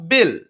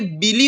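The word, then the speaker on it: Belle: ছিল youngest girl was বেল তো এই ওয়ার্ডটাকে অনেকে বিলি উচ্চারণ করতে পারে তো এই ওয়ার্ডটা বিলি না হবে বেল তো কি ইয়াঙ্গেস্ট মানে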